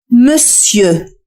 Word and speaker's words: monsieur: حاول أن تنطق صوت أ في آخر الكلمة. استمع جيدا. Sieux. Sieux. monsieur. ليس أو وإنما أ. monsieur.